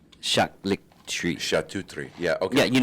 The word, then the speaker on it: charcuterie: This is how it's pronounced. Charcuterie. Charcuterie.